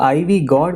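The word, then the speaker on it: ivy gourd: क्या आप जानते हैं इसका उच्चारण कैसे किया जाता है? आइवी गौर्ड, आइवी गौर्ड, आइवी वाई गौर्ड, जी ओ यू आर डी आइवी गौर्ड, क्या आप जानते हैं इसका क्या मतलब है?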